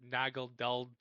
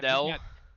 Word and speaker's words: Naganadel: Deoxys Attack, Iron Valiant, how do you say this? Nagel Dull, like Pokemon. Naganadel.